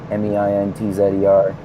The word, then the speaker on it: Meintzer: And then I'm on Facebook at Meintzer, Meintzer is the weird German spelling of my last name with the Canadian pronunciation of the Z.